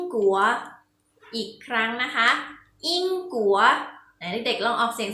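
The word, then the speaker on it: 英国: คะ ประเทศ อังกฤษ ภาษา จีน ออก เสียง ว่า อิง กั๋ว อิง กลัว อีก ครั้ง นะ คะ อิง กั๋ว ใน เด็ก เรา ออก เสียง ที่ คะ และ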